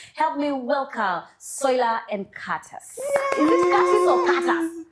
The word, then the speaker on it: Curtis: And ladies and gentlemen, help me welcome Soila and Curtis. Is it Curtis or Curtis? Curtis. Curtis. Actually, the T is silent. So it's Curtis.